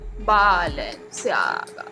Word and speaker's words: Balenciaga: Balenciaga.